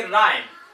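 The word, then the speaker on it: rhyme: इसको पढ़ेंगे राइम, राइम, तो H यहां पर साइलेंट है, R, ऑनेस्ट, राइम।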